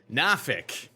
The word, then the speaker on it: Norfolk: the dog or pass podcast this for UFC Norfolk I think that's how the locals say it nor Norfolk Norfolk definitely not Norfolk